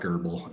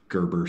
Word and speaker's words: Gerber: No, it's not Gerbil. It's okay. A Gerber Saber.